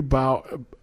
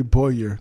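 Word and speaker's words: Bowyer: job and see Geoffrey bow Geoffrey bow Chapman plays Jay Carter he's not he's the producer on the show as well oh it's a Boyar okay so that sounds pronounced Geoffrey Boyer Chapman yeah so he's Jay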